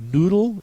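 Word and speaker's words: Nudel: more American spelling uh noodle in German is very much follows the rules n u d l uh where the u sound is made with the letter U not the double O as in English the same is true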